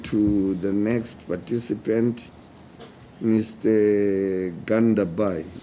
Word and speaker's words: Gandabhai: how do you spe pronounce it gandabai that's right but you can call